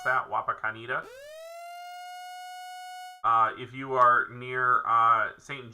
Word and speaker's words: Wapakoneta: So again, if you are Wapakoneta, how you pronounce that? Wapakoneta.